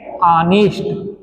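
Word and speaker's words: honest: ऑनेस्ट पढ़ते हैं भाई इसका सही उच्चारण है अनिष्ट इसे अनिष्ट कहते हैं अनिष्ट माने होता है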